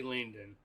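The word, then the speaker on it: Laindon: that for me La I l a i n d o n Landon but I say Landon so you know all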